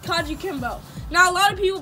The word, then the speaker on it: kajukenbo: class ready our martial arts class is called kanji kimbo now a lot of people pronounce it wrong we get stuff like kwenju kaja or kaiju kamba yeah but we just call it yeah you